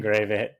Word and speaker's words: Gravitt: I was going to say your name wrong because we talked about what your last name is. Uh Gravit, director of marketing at Soul Coup.